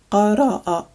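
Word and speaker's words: قرأ: This word is qara'a, qara'a, and it means to read. This one is pronounced shakara, shakara, and it means to thank.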